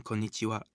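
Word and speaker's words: こんにちは: remember this new word try saying corn itchy wow quickly think of corns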